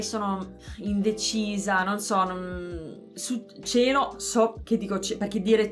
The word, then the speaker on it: cielo: Ma nel nord è la pronuncia più comune, quella Sì. chiusa, cielo.